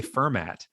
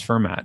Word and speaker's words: Fermat: It's It's There's a T on the end. Anyway, if you want to pronounce it, just drop the T. That's kind of a Pittsburgh pronunciation thing, I know, to drop the last letter of stuff. So, but it's Yeah, it's Fermat.